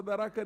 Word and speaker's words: Tharaka: You pronounce it Tharaka Nithi, it's Tharaka.